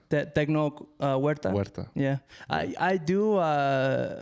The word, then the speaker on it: Huerta: big it's because we you don't pronounce the h i don't i think it's silent uh huerta yeah i i do